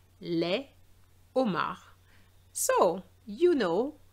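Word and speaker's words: homard: And this shows that it is an H aspiré. So no liaison. Le Omar. Les Omar.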